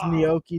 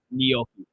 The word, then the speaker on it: gnocchi: You just pronounce the pasta gnocchi. Is that not? How do you pronounce it? Gnocchi. There's no ni. It's just gnocchi.